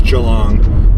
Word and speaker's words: Geelong: I made a disaster of Geelong. It's Geelong, but I'm learning slowly.